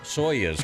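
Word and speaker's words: Soyuz: for me not about the astronauts that you pronounced soas correctly I got it nice well I don't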